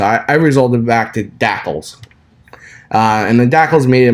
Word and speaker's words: DSACLS: I call them DACLs. It just something that how I pronounce it. I don't know if that's how others pronounce it, but it's dsacls.html.